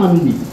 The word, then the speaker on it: আন্দি: বন্ধু আসমান হইল আন্দি রে বন্ধু, আন্দি মানে, আন্দি মানে অন্ধকার, আন্ধি উচ্চারণটা হয় আন্দি।